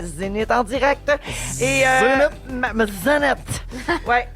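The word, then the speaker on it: Cenit: Zénith. Ah. Zénith. Ça s'écrit C-E-N-I-T.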